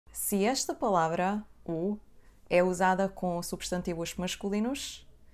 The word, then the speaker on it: ou: The letter "u" at the end is not pronounced. Depending on the region, we may also pronounce it /ow/ as if it had a /w/ sound.